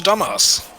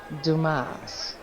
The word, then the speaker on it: Dumas: we go up to dumbass he's dumas hello that man called you captain dumbass my name is it's dumas boston of course it is my name it's pronounced dumas all right well congratulations